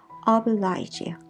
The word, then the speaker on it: oblige: 노블리스 어빌리지 많이 나오는데, 이게 영어로는요 oblige예요. lige 발음이에요. 그래서 영국이나 영어권에서는 oblige라고 발음을 하면 되고요.